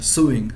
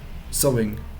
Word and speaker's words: sewing: you see his um he seems to be suing something sorry sorry sorry i need to remember how this is pronounced sewing so it was it essence off are you